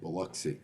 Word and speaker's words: Biloxi: That's how you say it, Biloxi.